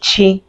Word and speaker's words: Chi: So it's just chi the ch and is pronounced chi. So chi is on ch. So you see the on and the chuku is there which means God's gift and is my name. Yeah. So we do pronounce it chi.